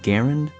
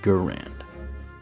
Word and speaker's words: Garand: And yes, I will refer to it as Garand because that's how its French Canadian creator pronounced his own name, but I won't judge if you say Gurand tomato tomato.